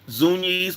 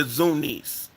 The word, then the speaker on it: Zunis: at the hands of the Zunis or the Zunis. You can pronounce it either way.